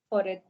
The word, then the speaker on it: forêt: Forêt. Forêt. Forêt. Listen, everyone. The T here is silent.